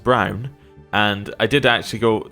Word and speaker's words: Braun: Now, I believe this is pronounced Brown.